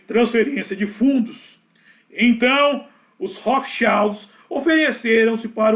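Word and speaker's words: Rothschild: Tem muita gente falando, não é Hot Shield, não. Eu uso, esse é o termo que eu tô usando, é o alemão para se aproximar da pronúncia original do nome, Hofild, que significa eh símbolo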